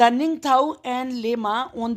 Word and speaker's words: Ningthou: इन मणिपुर में कांगलेपाक जगह पर there lived A निंगथो एंड A lemma. एक किंगथो ऐसे बोलेंगे किंग थाओ और एक लेमा रहते थे।